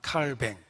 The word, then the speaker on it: 칼뱅: 칼빈은 영어식 발음이고 원래 프랑스 사람이니까 칼뱅 이렇게 알려져 있기도 합니다.